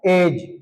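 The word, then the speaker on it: edge: जी से पहले जी से पहले आया डी साइलेंट रहेगा। एग्जांपल के लिए ई डी जी ई डी को नहीं बोलेंगे तो क्या होगा ये एज एज मीन्स होता है किनारा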